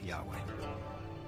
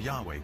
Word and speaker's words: Yahweh: would be YH wh which we think were probably pronounced something like Yahweh but Yahweh only appears